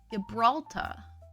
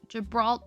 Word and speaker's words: Gibraltar: I like that you keep ending it with tra instead of tar. Gibraltar. Gibraltar. The R is silent, isn't it? This Hairspray is seriously $40. If I buy $40 Hairspray, Bree's gonna make fun of me. It's really good Hairspray. And it lasted me a really long time.